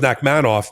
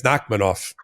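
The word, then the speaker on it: Nachmanoff: Unless you're I was I thought it was Knackmanov, but you're saying it's Knackmanov.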